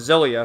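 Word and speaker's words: Xillia: Uh regarding the change from the original version of Tales of Zelia, funny how the translator spells it like that, but that's how you say it.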